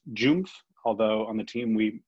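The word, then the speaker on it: JUMBF: on some of the jpeg meetings this is pronounced joomf although on the team we say jumboth which is i think a little bit easier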